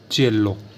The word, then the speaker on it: cielo: देखो सी के बाद क्या है आई, तो सी को क्या पढ़ेंगे च, लेकिन आई के बाद क्या है ई, तो आई के क्या हो जाएगा, साइलेंट हो जाएगा, तो क्या पढ़ देंगे चे, चेल्लो, चेल्लो।